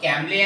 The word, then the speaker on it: Cambly: m b l y okay what is the pronunciation of that app gambling okay means you should of download from play store camli apps what is the app about this app